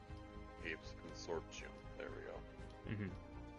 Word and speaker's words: Hapes: So I'm like, Hapes Consortium. There we go. Mhm. That's how you pronounce it.